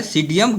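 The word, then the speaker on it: Psidium: सीडियम P silent हो जाता है, सीडियम गाभा।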